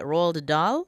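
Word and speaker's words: Roald Dahl: By Rald Dah. That's that's how you pronounce that.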